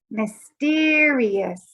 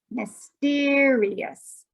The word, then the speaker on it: mysterious: first syllable of mystery we change where we put the accent and we say mysterious so in the word